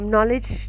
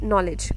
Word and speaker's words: knowledge: या फिर नॉलेज जो है उसकी स्पेलिंग है KNOWLEDGE। ये knowledge क्यों नहीं है? वाई we call it, we read it नॉलेज।